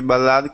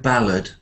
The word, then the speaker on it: ballad: the single a charity ballad called how do I say goodbye and when you say that word ballad say not ballad but ballad ballad um afterwards deril hang